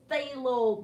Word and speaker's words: phthalo: right there yes and everybody that word is pronounced phthalo blue thank you yeah we're having a wraith